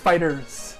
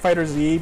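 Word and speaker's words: FighterZ: We keep calling it Fighter Z because it looks like that, but it is technically supposed to be pronounced Fighters. Fighters. Like the Z is supposed to be an S, basically.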